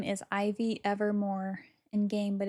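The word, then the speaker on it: Ivie: My name is Ivy Evermore in game, but it's spelled I V I E space ever M O R, which is a uh Taylor Swift reference.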